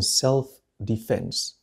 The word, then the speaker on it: self-defense: he did so in self-defense دفاعا عن النفس self هي النفس defense الدفاع لاحظ النطق defense توجد شدة stress على F self-defense The former police